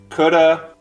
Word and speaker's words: coulda: connected speech okay so the pattern is whenever we have the of which is present in the word of or the ve contraction with have on many words like could have it's reduced to uh and you see this